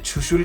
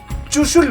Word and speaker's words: छुशुल: जरूरी है वो है छुशुल का नाम। हम लद्दाखियों को छोड़ के ज्यादातर इंडियंस इस जगह का नाम चुशुल बुलाते हैं। गलत प्रोनाउंसिएशन है यार, च से चुशुल नहीं, छ से छुशुल।